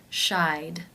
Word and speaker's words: shied: The final sound in the infinitive is the I as in by diphthong. Therefore, it is case 2, and the ED is pronounced as the D sound. Shied, shied.